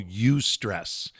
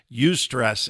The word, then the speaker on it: eustress: the first one is what we'll call you stress eustress in psychology is good uh that prefix you means good it's good stress the